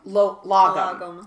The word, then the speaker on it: Lagom: So, and yours is called Lagom. Lagom, and it means just enough, simple ways to